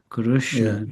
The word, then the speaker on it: Krishna: earlier is that um R re and R was also regionally very different with Gujarati saying Krishna Kushna Gujarati say Krishna and um so